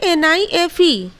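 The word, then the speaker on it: knife: नहीं करेंगे हम लोग जैसे की नाइफ इसको कैन आईएफ तो कभी नहीं बोलते हैं कभी हम लोग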